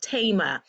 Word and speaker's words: Thema: so no worries but my first name is pronounced Tama I apologize sorry I